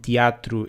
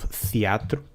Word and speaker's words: Theatro: called Teatro Circo, and teatro is spelled the old-fashioned way with a TH, but you still read it teatro instead of theatro.